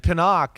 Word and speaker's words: Penix: And Pinnock is like, am I saying it right? Penix. Yep.